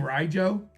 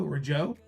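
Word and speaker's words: Rijo: Riojo. R I J O. Rojo. Riojo.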